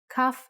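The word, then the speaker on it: כף: Kaf actually is only pronounced like K when it has a dot inside. Just like Bet only has the B sound when it has this dot. Without the dot, it sounds like Ch.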